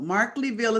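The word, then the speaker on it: Markleeville: is in sacramento oh mark leville markleyville is a pronunciation and where is it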